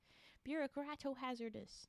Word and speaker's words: bureaucratohazardous: Because if this is just a bureaucratohazardous, that's what we decided we'd pronounce it as. Bureaucratohazardous. Doesn't sound like one word, and I hate that.